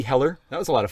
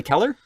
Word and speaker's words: Heller: I said, Emily Heller. She said, Emily Keller? I said, no. I had to spell it out for her.